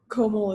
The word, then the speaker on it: Komal: Yeah, so is it Kamal or Komal? Just to make sure I'm pronouncing that right. Oh, Komal is good. Okay, Komal.